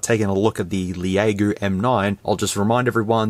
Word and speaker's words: LEAGOO: It could be LEAGOO, but I'm led to believe it's pronounced LEAGOO, or LEAGOO if you want it to be fancy.